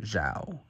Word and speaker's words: Xiao: welcome back General Xiao Commander Xiao is how you pronounce it I don't want to